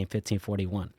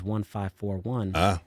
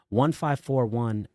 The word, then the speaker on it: 1541: expect so for example right I think you pronounce my name 1541 that's that's what most people would expect looking at it but I pronounce it as 1541 because I'm I'm communicating that people and things